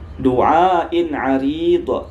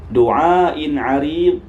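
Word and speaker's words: دُعَاءٍ عَرِيضٍ: Du'ain 'arid. Bukan do ya, bukan, dia tidak qalqalah. Du'ain 'arid.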